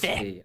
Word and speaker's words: Fe: So then we saw Fe, don't know how to pronounce. It's Fe. Is it Fair? Fe. Okay, it's Fe.